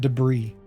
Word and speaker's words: debris: that's some zeppelin deborah's why do we pronounce it debris and spell it deborah's see deborah's or debris but we pronounce debris it doesn't make sense we're risking it here